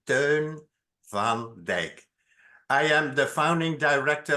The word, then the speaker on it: Teun van Dijk: name is turn van I'm going to pronounce it again in Dutch so that you know how to pronounce it turn Van de I am the founding